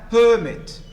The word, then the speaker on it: permit: you place the stress what about this as a as a noun and this the same word as a good or this as a noun permit first syllable as a verb permit the next as